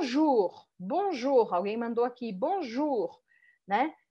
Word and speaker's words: bonjour: Bonjour alguém mandou aqui Bonjour né Qual que é a sílaba forte tem duas camas algum Ju é a última o Bruno não é bom Ju é bom Ju Bonjour